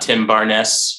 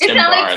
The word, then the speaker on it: Tim Barnes: It's not Tim Barnes or anything like that. Just Tim Barnes. Like French or something.